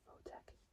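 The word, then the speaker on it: Photek: It's like saying the word phone, but taking out the N and the E. next to the E is the letter K. Say composer Votech.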